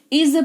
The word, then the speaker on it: is: तो आज उच्चारण दे रखा है, इसको इस नहीं, इसको इज पढ़ते हैं। नुक्ता लगा हुआ है ज के नीचे, तो थोड़ा सा हल्का सा जबान पे जोर पड़ेगा। इज पढ़ेंगे, इसका मतलब सिंपली होता है, ठीक है, इसका मतलब ही होता है।